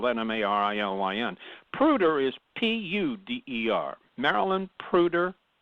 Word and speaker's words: Puder: Puder is Puder. Marilyn Puder. Am I pronouncing Puder it wrong? like the metal.